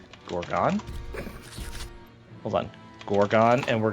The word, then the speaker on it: Gorgon: How to pronounce on YouTube. Gorgon.